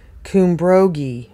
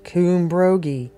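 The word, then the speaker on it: Cymbrogi: in arms in arms Kim brogie is an ancient Celtic word and is pronounced thanks kumbrogi okay coombrogi the purveyors of this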